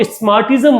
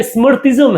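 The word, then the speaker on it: Smartism: इसको आप स्मार्टिज्म मत पढ़िएगा। क्या मत पढ़िएगा? स्मार्टिज्म मत पढ़िएगा। स्मरथिज्म है। इसे क्या कहा जाता है इसे? स्मिज्म। तो आपको स्पेलिंग जो है वो स्मार्टिज्म की दिख रही है। परंतु इसका वास्तविक मीनिंग स्मृति से निकलता है।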